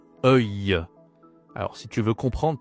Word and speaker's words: œil: Attention, la prononciation est pas facile hein. C'est e œil.